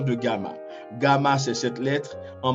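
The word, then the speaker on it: γ: On dit gamma, se prononce N devant. Gamma, en minuscule, vous voyez, devant kappa, majuscule et minuscule, devant ki, majuscule et minuscule, et devant xi.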